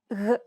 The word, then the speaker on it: γ: This consonant sound occurs when you try to pronounce a G followed by an A, O, or U vowel. Listen to Stefania. Γ, γ, γ, γ.